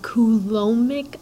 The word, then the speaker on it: Coulombic: discussion about something called cool omec attraction yes the B is silent this particular concept is